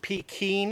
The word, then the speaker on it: Pekin: duck this is the Pekin Pete some people pronounce it Pete keen as P eki in Peking duck originated from Peking China